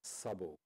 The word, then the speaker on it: Szabo: You see, my signature, I put the Z into the S, because it's difficult for Americans to pronounce my name otherwise. So the correct pronunciation is Szabo.